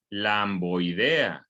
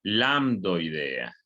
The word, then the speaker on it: lambdoidea: muy bien estructura lambdoidea muchos la pronuncian mal y le llaman la idea no se llama el ambo idea se llama lambdoidea ok o no ok